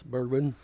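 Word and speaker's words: Bregman: Yes, Bergman.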